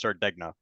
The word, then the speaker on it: Sardegna: I believe it's pronounced Sardegna. Oh, okay. Sardinia?